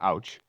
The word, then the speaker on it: Tauknitz: To Emil Tauknitz, that's A-U-C-H, sweetheart, pronounced ouch.